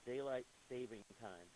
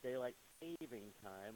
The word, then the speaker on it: daylight saving time: from standard time to daylight savings time yes it's written and pronounced daylight saving time and not daylight savings time why do we do